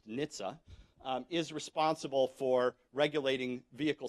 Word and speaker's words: NHTSA: A part of the Department of Transportation called the National Highway Traffic Safety Administration, the acronym is pronounced NHTSA, is responsible for regulating vehicle safety.